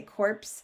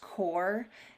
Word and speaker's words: corps: um by the way if you see core c-o-r-p-s kids sometimes say corpse it's actually just core and i know it looks like it isn't but think of it like silent letters okay uh and so